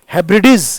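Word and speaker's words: Hebrides: आ गया यहां पर हैब्रिडीज इसका उच्चारण देखना मैं देख रहा हूं कई लोग गलत बोलते हैं इसको इसका उच्चारण है हेब्रिडीज हेब्रिडीज सीज हेब्रिडीज ये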